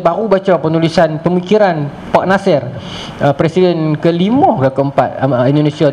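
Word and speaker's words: Natsir: Nasir, N-A-T-S-I-R, ejaan dia, Nasir.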